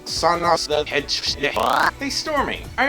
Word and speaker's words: Sonic: getting into the fandom it's not Sonic it's sanic the her chair no I don't think so it's actually pronounced Sonic and they store me I remember you saying